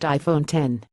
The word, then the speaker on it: iPhone X: nor the A+ it's the iPhone X pronounced iPhone 10 don't be surprised if